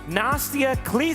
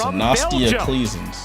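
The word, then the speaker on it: Nastja Claessens: With the 30th pick in the 2024 WNBA Draft, the Washington Mystics select Nastia Kleesens. Oh, that's how you pronounce it. Nastia Kleesens.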